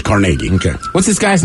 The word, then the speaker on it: Carnegie: in here they say the yinzer pronunciation as in Pittsburgh Carnegie correct Carnegie it is Carnegie okay what's this guy's